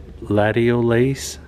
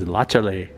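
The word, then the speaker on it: Latiolais: It's not latiolace, like some people might think. It's lachale.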